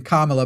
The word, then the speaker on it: Kamala: As you were saying, Kamala, by the way, is how you say her name.